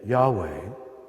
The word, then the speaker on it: Yahweh: of the sacred name Yahweh are in fact the only consonants that if correctly pronounced do not allow you to use your tongue or close your lips in fact we know